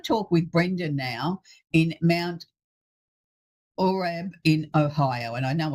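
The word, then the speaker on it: Mount Orab: Yeah, you did a pretty good job, Mount Orb.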